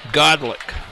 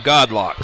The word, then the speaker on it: Godlock: That's Jay Godlick for Gainesville. And they pronounce his name Godlock, so Jay Godlock on the reception.